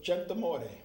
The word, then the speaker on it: Centamorte: My good friend, and I'm going to say his name in the proper Italian pronunciation, it was Joseph Centamorte.